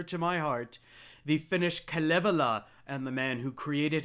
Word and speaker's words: Kalevala: Now, I've also heard this pronounced Kalevala, which is how I used to pronounce it, but I've heard Finns more frequently pronounce it Kalevala. So I'm going with Kalevala.